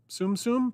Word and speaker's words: Tsum Tsum: Tsum Tsum, pronounced Tsum Tsum, is a range of Japanese collectible toys based on Disney-owned characters. The name is derived from the Japanese verb sumu, meaning to stack.